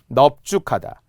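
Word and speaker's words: 넓죽하다: 넙이 원래는 널다처럼 리을 발음이 와야 되는데 비읍 발음이 나는 게 딱 3개 있어요. 표준 발음에서 중요해요. 비읍 발음이 온다라는 것, 넙으로 발음한다는 거죠. 딱 3개밖에 없어서 그럴 때는 원형을 밝혀서 넙적하다, 넙죽하다, 넙둥글다.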